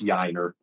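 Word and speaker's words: Yainer: Yiner Diaz's name because that's what I like about and they will try to it's Yiner.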